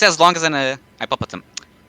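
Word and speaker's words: hipopótamo: Hippopotam.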